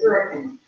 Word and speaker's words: Hurricane: It's spelled like Hurricane, but it's Hurricane.